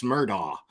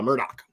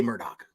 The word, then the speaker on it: Murdaugh: looks like it's says it looks like his name is Alex murdaugh uh but I happen to know that it is not pronounced that way it is pronounced Alec murder murdog uh Murdoch let's just say Murdoch